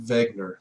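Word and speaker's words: Wegener: this is what Alfred Vagner the W is pronounced with a v in 1912 proposed he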